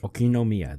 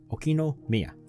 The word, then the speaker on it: Okinomiya: Okinomiya. Okay, that's how it's pronounced. Try to remember it, Sinikle, okay? Okinomiya.